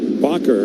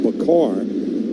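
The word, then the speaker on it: Bachar: Mentioned he spells his name B-A-C-H-A-R, but pronounces it Bacher, and there's such a temptation for me to call him Bacar, because one of the nicest men in this business had that last name.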